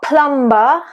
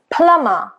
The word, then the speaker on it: plumber: Then you've got a silent B after M. So it's not plumber, it's plumber.